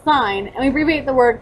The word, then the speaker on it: sin: as s i n but it's still pronounced like sign and we abbreviate the